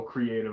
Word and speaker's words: KR38TVE: Is it supposed to be pronounced creative? Oh, creative. I see it now.